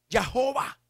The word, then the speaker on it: Jehová: A los hombres, los estudiosos, para pronunciar esa palabra le añadieron vocales. Y al nombre, a esas 4 letras ahora le dicen Yahweh o Jehová, porque ahora lleva vocales.